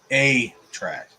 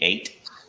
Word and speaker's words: 8-track: You mean 8? Oh, I've been saying it wrong all these years. Yeah. I'd like an A track and a B track, please. I thought it was A track all this time. No, it's 8. Nuh-uh.